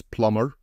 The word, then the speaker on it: plumber: we are using as plumber the B is silent obviously however it's the same